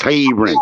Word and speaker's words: Hebron: Don't but tell me how to spell it. It's Hebron, nigga.